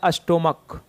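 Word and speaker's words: stomach: जैसे कि यहाँ पे देखिएगा, चर्च था, टॉर्च था, लेकिन सी एच रहेगा, उच्चारण का है तो केवल एस लगाएंगे। जैसे कि हो गया स्टोमक, तो इसको का पढ़ते हैं तो इसका प्लूरल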